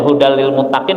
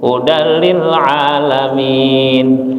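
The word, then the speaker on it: هُدًى لِّلْمُتَّقِينَ: Harusnya hudal lil muttaqin bacanya hudal lil alamin ya kan. Dibenerin lagi. Ulang lagi. Hudil alamin.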